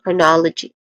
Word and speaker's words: chronology: Pronunciation wise chronology there's three distinct sounds starting with Q which has a sharp edge okay so that's chron not yeah chronology again chronology next to that is